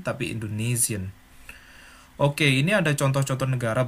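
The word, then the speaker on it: Indonesien: bilang Indonesia Indonesia tetapi Indonesian Oh ya es dalam bahasa Jerman itu selalu hampir pasti di diucapkan z-z-z-z bahasa Indonesia gitu ya Indonesian bukan Indonesian tapi Indonesian Oke ini ada contoh-contoh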